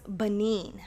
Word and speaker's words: Benin: So it is pronounced Benin.